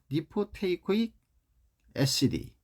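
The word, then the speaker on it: lipoteichoic acid: 그 다음에 이제 리포테이코익산, 이거는 리포테이코익 애시디, 리코테이코익 애시디 이렇게 이제 발음을 하고 한글로도 리코테이코익 산, 애시디가 이제 산이잖아요.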